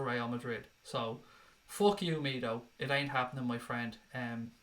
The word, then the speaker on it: Mido: Mido rhymes with pedo.